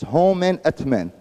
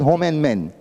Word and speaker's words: Homenetmen: to pronounce it that it's not it's not home it's home at men and it's not home and Men home and Men is a totally organization so you have to